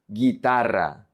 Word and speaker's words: guitarra: And then we have the combinations GUI and GUE, where the U is silent, and we say ge, GUE, gi, GUI. For example, guitarra, guitarra, guitar.